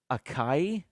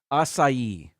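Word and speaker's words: açaí: all right number 10 people say Akai and I see this on a lot of and we've purchase products with uh this ingredient in there assai three syllables assai uh Costco had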